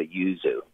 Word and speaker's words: yuzu: We also grow yuzus, but the bumpy green one is a yuzu.